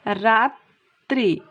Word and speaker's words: রাত্রি: খেয়াল করো যে রাত্রি, তাহলে এখানে দেখো এই রাত্রি শব্দের বানানের শেষে আছে তয় রফলা, তাহলে আমাদের রুলস অনুযায়ী এই বর্ণটার উচ্চারণ দিতে হবে, ডাবল হবে। তাহলে দেখো কেমন হলো, রাত্রি।